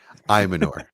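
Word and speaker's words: Ayomanor: Well, I guess you guys sold me on Ella Manor or Imanor. LMNOP? Imanor is how I've been told it's pronounced.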